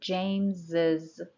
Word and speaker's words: James's: it is like that we add apostrophe s and then the pronunciation changes to is so we say James's laptop number two it's my